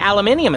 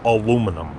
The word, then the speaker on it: aluminum: my bat's made of aluminium instead of wood aluminum Stan it's pronounced aluminum whatever it's called it